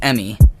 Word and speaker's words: ME: It spells the word me, but it's pronounced Emmy.